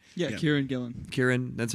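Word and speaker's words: Kieran Gillen: Gillan I hope I'm saying that right yeah Kieran Gillan Kieran that's how you say it yeah like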